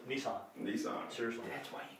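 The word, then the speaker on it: Nisan: That is Nissan, believe it or not. That's exactly, that is how they pronounce it in Hebrew, too. Seriously. It's Nissan.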